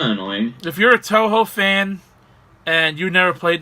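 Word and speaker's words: Touhou: I thought people, because I know some people pronounce it Tuhu as well. No, it's pronounced Toho.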